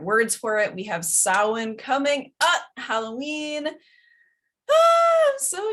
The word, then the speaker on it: Samhain: That's how you pronounce that, Samhain.